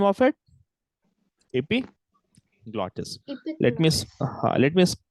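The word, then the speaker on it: epiglottis: IG glotus what is the name of it EP glotus let me let me spell it e p i g l o d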